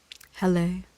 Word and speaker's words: Helle: Hell pronunciation. Helle.